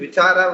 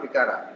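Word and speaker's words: vicāra: The transliteration mark A on top of it, there is a line that has to be pronounced as cha only, not ka. This is vichara only. This is a transliteration mark, internationally recognized transliteration marks. So this has to be read as vichara only, not vikara.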